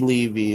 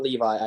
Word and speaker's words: Levy: directed by Shuki Levy I believe it's Shuki Levy is the pronunciation uh it's not Levi I do know that yeah it's definitely not Levi holy